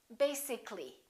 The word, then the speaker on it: basically: let me show you when we say the word b Asic it has two syllables if we add a l l y we don't say basic this a disappears so the a is not pronounced and we say basically take a look at